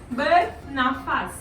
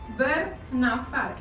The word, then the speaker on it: bernafas: Bernafas. Bernafas. Like burn your face.